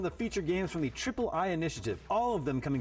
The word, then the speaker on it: ID@Xbox: partnering with called the Ayayay Initiative. Yeah, I'm pretty sure it's pronounced Triple I. You know, like AAA, but with I for indie.